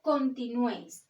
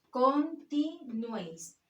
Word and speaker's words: continuéis: de uno de tongo la palabra continuéis separamos en sílabas con ti no es tiene tres sílabas continuéis el golpe de voz está en la última sílaba no es contigo no